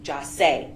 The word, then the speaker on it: Jase: The plans that were hatched by these co-defendants to rob and kill Jase, his name is pronounced Jase, Onfroy, was hatched in hell, and the witnesses are who they are.